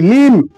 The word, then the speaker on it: limb: অঙ্গ প্রত্যঙ্গ, LIMB, লিম। এখানে বিয়ের উচ্চারণ না করলেও চলে, লিম।